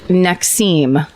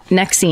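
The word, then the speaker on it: NXIVM: Nexim. That's what that's how you pronounce it. Nexim. Oh, that's the branding one. That's right. So it Nexim might not sound familiar, but it's NX VM.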